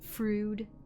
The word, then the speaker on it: Freud: pronounce it that way I've heard it frood I've heard Freud genuinely yeah or psychologists